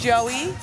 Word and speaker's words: Joey: Platform 2, you said his name is pronounced Joey. Joey Nisto.